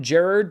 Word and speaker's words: Gerard: Also hitting theaters this weekend is the newest film from Gerard, that's how I say it because that's how it's pronounced, Butler, Kandahar, about Butler and his translator fighting for survival.